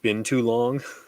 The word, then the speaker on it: binturong: know the bin prawn it kind of sounds like been too long been oh my